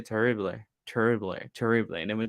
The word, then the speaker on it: terrible: Okay, let me see if you can roll your R. Your R. Terrible, terrible. Oh, I feel awful. Me siento terrible. No, terrible. Terrible. But it doesn't, I mean, if you cannot roll your R, it doesn't mean you are saying it bad. No, not at all. You just that's one way for us to identify you are not a native Spanish speaker because most of